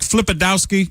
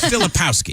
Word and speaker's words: Filipowski: names right he's like flipid dowski it's filipowski filipowski he's been one of the